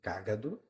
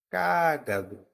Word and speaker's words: cágado: eu tenho cágado e a mais forte de cágado é o k cágado cágado naquela história da escadinha é cágado Caino então cágado tem a antepenúltima sílaba tônica Então ela é uma proparoxítona nesse caso cagado é uma paroxítona e cágado é uma proparoxítona então eu vou me referir